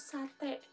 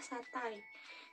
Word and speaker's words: satai: Nah, misalkan nih contohnya kita sering menyebut sate. Nah, sebenarnya kata yang benarnya itu adalah satai. Jadi, sate itu salah ya, yang benarnya itu adalah satai.